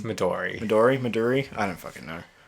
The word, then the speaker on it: Midori: Maduri or Midori? It's Midori.